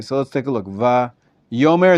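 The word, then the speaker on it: ויאמר: Va-yomer is an exception.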